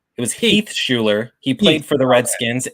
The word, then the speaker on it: Shuler: say your last name Schuler right Schuler yeah like the horrible 90s quarterback I don't know if you knew Heath yeah what is his first what was his first name it was Heath Schuler he played for the